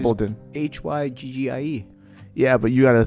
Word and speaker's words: hygge: Hygggie. Yeah, but you gotta say it correctly and enunciate. How would you say it? What do you mean? How? That's the way it's said, right? Yeah, hygge.